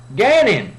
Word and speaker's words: Gannon: what was his name rhymes with cannon Gannon rich rich can't regaining